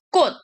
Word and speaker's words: 꽃: Jadi yang ketiga itu 꽃, benar ya, 꽃. Bukan 꽃이야. Kita harus perhatikan ini perubahannya T.